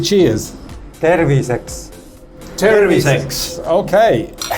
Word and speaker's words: terviseks: Terviseks.